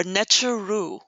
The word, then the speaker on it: neteru: This is pronounced neteru or necheru. The u on the end represents plurality.